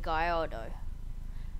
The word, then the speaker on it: Gallardo: the circuit spec Lamborghini gardo yes it's got L's in it but that is not how you say it cuz I looked it up on Google translate don't diss me please